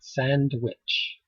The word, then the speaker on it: sandwich: sam itch look at sandwich sandwich sandwich sandwich comes from a play with the word sandwich you say sand which very fast and you do not pronounce the d sandwich sam sam sounds